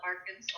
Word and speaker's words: Arkansas: can test all right Arkansas the end is silent so we call it Arkansas all right and what